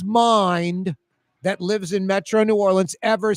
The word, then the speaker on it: New Orleans: New Orleans. All right. I will tell you how it is pronounced. It's It's not two syllables.